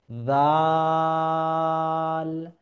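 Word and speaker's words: ذال: আচ্ছা, জাল কিভাবে উচ্চারণ করবো? জাল উচ্চারণের ক্ষেত্রে এই যে জিহ্বা, এটাকে আমাকে দাঁতের গোড়ালিতে লাগাতে হবে, সামনের দাঁত। জাল, জাল, কোন অক্ষরটিকে কোথা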